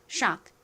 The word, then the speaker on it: shock: 먼저 미국식 원어 발음으로 읽어 보겠습니다. 가장 앞에 이중자음. SH는 소리가 나죠? 그리고 미국식 원어 발음으로 K는 주로 무슨 소리가 난다고 말씀드렸죠? O가 아 소리 나고 C는 크리 나는데 약하게 발음돼서 악 이렇게 악 소리에 가깝게 발음이 된다고 말씀드렸죠. 소리와 악 소리를 빠르게 연결하면처럼 들립니다. 그래서이 단어는 shck이라고 발음해 주시면 돼요.